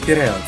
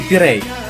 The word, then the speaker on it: Пирей: Это пригород Пиреус, или Пирей, так как окончание в греческом языке обычно не произносится.